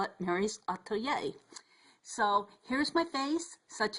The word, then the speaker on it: atelier: I call it Meri's Atelier, and Atelier, Meri's Atelier, which stands for studio. I'm still learning how to pronounce the word.